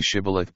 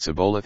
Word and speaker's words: Shibboleth: Then they said to them, Say the name Shibboleth, and if they couldn't say Shibboleth but Sibboleth instead, they'd know that they were lying.